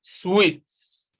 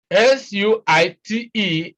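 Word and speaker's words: suite: we have here is sweets s-u-i-t-e is sweet it's not suit is sweet all right what you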